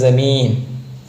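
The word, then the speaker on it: ज़मीन: അപ്പോൾ ജാൻ്റെ അടിയിൽ കുത്തിട്ടാൽ എന്താ വായിക്കുക, സ എന്നുള്ള ഉച്ചാരണം. അപ്പോൾ ഇംഗ്ലീഷിൽ സെറ്റ് ഇല്ലേ, അപ്പോൾ അതേപോലെ ഉച്ചാരണം വരിക. അപ്പോൾ ജമീൻ.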